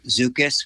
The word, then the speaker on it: Szukis: So a grafted self-fertile persimmon like Zucchus, which is spelled Szukis, that's a slow-growing, small, self-fertile persimmon tree that produces kind of butterscotch flavored fruit.